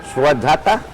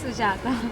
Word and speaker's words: Sujata: Okay, we go to Swadhata. Okay, I'm saying it right? Yes. It's Sujata. Sujata.